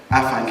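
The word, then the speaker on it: afanc: Afank actually being the pronunciation of a beaver, Efank being the pronunciation of the lake monster.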